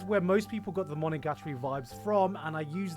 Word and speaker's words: Monogatari: solving supernatural phenomenon in each arc, I feel this is where most people got the Monogatari vibes from, and I use that as a compliment.